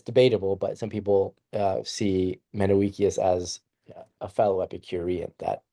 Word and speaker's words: Menoeceus: So some people struggle pronouncing the name of Epicurus's friend. It's Menoeceus. And it's debatable, but some people see Menoeceus as a fellow Epicurean that Epicurus was writing a letter to.